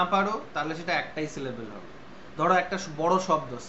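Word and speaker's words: syllable: যেমন সিলেবেল, সিলেবেলের লাস্টে যে ইটা আছে সেটাকে তো আমরা উচ্চারণ করি না। আমরা তো বলি না সিলেবেলি, এরকম তো বলি না।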